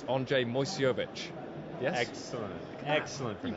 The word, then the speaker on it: Andrzej Moyseowicz: It's Andrzej Moyseowicz. Yes? Excellent Can you pronunciation.